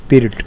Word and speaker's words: Pirc: Now spelling is PIRC, but the pronunciation is pirt.